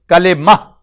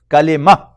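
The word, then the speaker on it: كلمة: This ta, according to the principle of tajweed, this will not be pronounced kalima, it will be pronounced as H sound, kalima.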